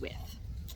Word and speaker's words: Wythe: Is it Wythe or Wythe? It's Wythe. It's spelled Wythe, but it's pronounced Wythe.